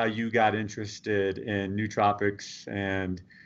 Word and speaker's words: nootropics: some guys pronounced at NOAA tropic some guys pronounced at nootropic and I figure that it's not worth arguing about I'm the expert I'm the authority so I say new tropics so that's what it's